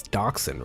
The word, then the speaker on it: dachshund: It's dachshund, right?